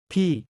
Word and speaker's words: พี่: พี่ Pronounced like P but with a rising tone.